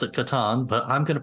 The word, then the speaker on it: Catan: Some people might pronounce it Catan, but I'm going to pronounce it Catan.